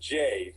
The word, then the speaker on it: Jai: extraction from the russo bros yeah it's actually pronounced jay uh chris j alex i just like you